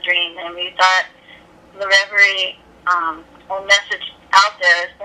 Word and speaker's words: Reverie: And Allie, you're the lead singer of the band Reverie. Am I pronouncing it right?